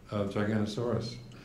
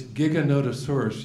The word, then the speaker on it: Giganotosaurus: a new dinosaur that had been discovered called Gigantosaurus. At least that's how I pronounced it. And the letter was from a 12-year-old boy. And it said, it's Giganotosaurus, you idiot.